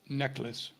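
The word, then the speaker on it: Necheles: n NES is that how you say it necklace neckl okay thank you Roger apologies for uh mispronouncing uh the name but uh I I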